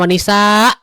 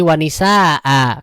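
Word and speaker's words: وَنِسَاءً: Ini dibacanya bukan wanisa, tapi wanisaa karena dia ada fathatain di akhirnya.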